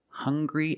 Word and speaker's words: hungry: Also, we have these two words, hungry and hunger. They also make the same sound with the nasal sound and the hard g.